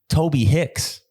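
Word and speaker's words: Tobe Hixx: was in the email the headliner's name is spelled t-o-b-e -h-i-x-x it's like uh like a porn name Toby Hicks and he's a good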